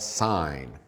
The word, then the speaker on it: sine: first ratio is called sign which is spelled SI n e we abbreviate it with